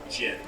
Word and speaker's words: Djinn: D-J-I-N-N. How do you pronounce that? Is it Djinn? Jin. Jin? Jin. The D is Like silent. the What's June? Jin. Like the alcohol?